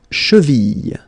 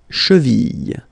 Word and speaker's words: cheville: La cheville, la cheville. Remember, double L like that after I, y, y, cheville.